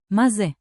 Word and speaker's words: מה זה: Tip one, open ma like ma in mama. Ma. Tip two, ze sounds like ze, quick and light.